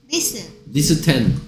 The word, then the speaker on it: listen: listen 소리 안 나는 t도 있었네. listen. listen to it. listen처럼 소리 날 것 같은데 발음은 정작 listen.